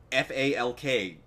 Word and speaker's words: Falk: F-A-L-K. Falk. Falk. Okay, Falk. I didn't know if you could pronounce the...